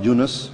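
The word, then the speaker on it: Yunus: do you say his name in arabic yeah eunice it was jonah and the last one which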